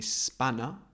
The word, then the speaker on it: spanner: okay to throw a spanner spanner again we don't pronounce the r it's not spanner spanner